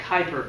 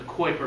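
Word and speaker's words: Kuiper: belt of debris called the Kyper belt or the quer belt different ways to pronounce it and uh unless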